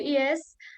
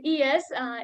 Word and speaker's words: IAAS: Before diving into the main session, let's begin with a short introduction to ES for those who are curious about who are we. Uh, IAAS, we generally spell it ES, is an International Association